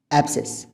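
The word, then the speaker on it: abscess: तो इसको आप प्रोनाउंस करते हैं एब्सेस। इसमें सी का यूज़ नहीं आता, एब्सेस।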